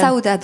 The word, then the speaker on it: Saudade: est né saudad Saad c'est saudad on dit pard alors avec le petit accent portugais effectivement qui n pas parfait non plus mais ouis on prononce ça Oudad comment a né saoudad